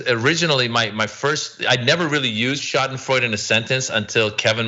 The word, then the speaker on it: Schadenfreude: No, you said as it schadenfreude, how do you pronounce that word?